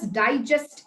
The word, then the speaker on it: digest: But when I say, the food which we had did not get digested well, then the syllable stress is on E in digest.